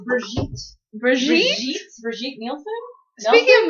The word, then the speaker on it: Brigitte: It's not Bridget. It's Brigitte.